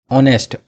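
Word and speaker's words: honest: एन लगाना है तो एच ऑनेस्ट आ से हो रहा है जबकि एच है और इसमें एच आता नहीं फिर भी जब हिंदी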